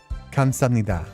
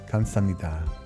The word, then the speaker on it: 감사합니다: Kamsahamnida. Kamsahamnida.